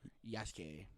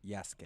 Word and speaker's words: Jaskier: It's pronounced Yasuke. Yasuke.